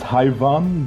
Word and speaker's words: Hayvan: I mean, it's Hayvan, but Hayvan is completely fine.